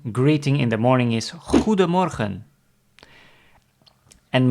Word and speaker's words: Goedemorgen: So, the common greeting in the morning is Goedemorgen. And most people say it a little faster, so they leave out the D of Goedemorgen. They make it Goeiemorgen. So that's how most people pronounce Goedemorgen as Goeiemorgen.